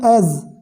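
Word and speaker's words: edge: ऑन द एज, ऑन द एज, इसमें D silent है, right.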